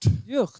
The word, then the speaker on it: Hjort: How do you say it? Hjort. Hjort. Yeah, it's Swedish.